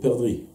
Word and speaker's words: perdrix: Kore Zahar, alors c'est le perdrix. Perdrix, on ne dit pas le X, quoi.